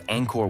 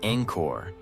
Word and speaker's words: Angkor: In Khmer, the first word Angkor begins with a soft, open A, as in father, followed by a nasal ng sound, like the ending of the English word song.